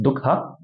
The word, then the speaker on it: Dukkha: truths, starting off with number one, which is pronounced Dukkha.